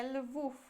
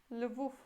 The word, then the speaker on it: Lwów: Em polonês é Lwów. Lwów.